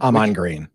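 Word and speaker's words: Ahman Green: green or Aman green Aman green Aman green yeah so the emphasis is on the first half of his name correct unless I've been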